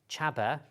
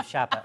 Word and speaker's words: Chabba: Now, it's pronounced Chabba. Mr. Loverman. Not to be confused with Shabba, although I did call him Shabba, but he's Eastern European and didn't kind of get it. But Chabba. Chabba.